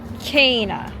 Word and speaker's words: Canna: Thanks to Google, we looked up the pronunciation. This is canna. Canna. This is canna. Canna. Canna. And the land of milk and honey is Canaan. Canaan.